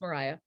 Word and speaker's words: Maria: i know about henry's aunt and his aunt mariah right you expelled maria but it's pronounced mariah um when he was arrested and put into